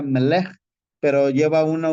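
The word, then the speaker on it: מלך: La palabra rey se pronuncia Melech, pero lleva una V y una apóstrofe antes de escribirla.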